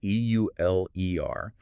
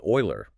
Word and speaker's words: Euler: That's E-U-L-E-R, and it's pronounced Euler. Yes, not Euler. I always wanted to pronounce it Euler when I first read it. It's a very common instinct, but it's Euler.